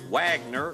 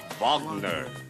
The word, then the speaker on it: Wagner: pronunciation of the words they don't say the w the baby say the w you don't see Wagner when you talk about the musician right you say bonder Bachman okay I'll be